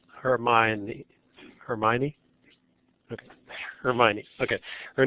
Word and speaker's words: Hermione: appropriate so her aunt's name is I always pronounce this wrong her M Herm Hermione okay Hermione okay her name is Hermione so